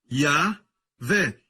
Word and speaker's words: Yahweh: Yud, Rei, Vav, Rei. Se pronuncia como Yahvé.